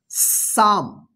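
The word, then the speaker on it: psalm: का उच्चारण नहीं होगा इसमें दो साइलेंट लेटर है पी और एल इसको क्या पढ़ेंगे साम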